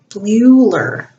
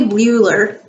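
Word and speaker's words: Bleuler: it was probably bl bluer bluer e-l-e-u-l-e-r it's weird to pronounce because the l after the b ruler german surname it was probably bueller who first suggested that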